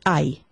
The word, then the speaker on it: hay: This word is ay. Yes, it's pronounced with an H, but remember the H is mute.